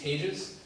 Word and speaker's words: Tejas: little bit about myself my name is tages that is pronounced like Conte giuse if English is your first language that's the best way to do it it is an unusual